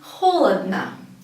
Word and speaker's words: холодно: Again, we see 3 O's, but the first one, the only one is stressed, is the first one. And the other 2 are not stressed, so we pronounce it as холодно. Only the first one is pronounced as O.